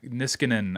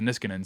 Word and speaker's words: Niskanen: Well, it's by the Nish uh Nisk Niskanen, I think is how you say it, the Niskanen Center.